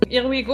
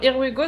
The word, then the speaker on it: IRWIGoo: quoi ça peut ressembler Irigo alors here we go ça s'écrit Goo ouais et oui c'est wi donc c'est pas comme en anglais du coup IR kwigo